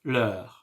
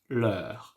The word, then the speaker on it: leur: So, leur, in plural, we pronounce it leur. And in singular, we pronounce it, yes, you got it, leur. This is why, you know, in the oral, it's very difficult to understand if we're talking in plural form or in singular form.